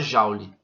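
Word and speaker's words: joule: ele é medido em jaules e ele é representado pela letra j se escreve julie mas se fala jauli tá então esse trabalho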